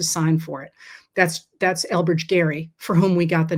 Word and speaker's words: Gerry: And the concept, the idea of gerrymandering comes from Elbridge Gerry, spelled the same, pronounced differently. I don't know why.